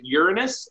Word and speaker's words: Uranus: They're like, dude, did you pronounce it Uranus? And I said, that's technically the correct way.